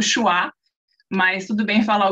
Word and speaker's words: Uxua: muito grande grande e a pronúncia internacional é ua mas o nome em português é uá na verdade é uma